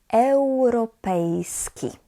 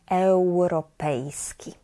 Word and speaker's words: europejski: I, U together we pronounce as eu, eu. Europa, europejski. So imagine that you have actually the W there instead of U. It will be easier to pronounce Europa, europejski.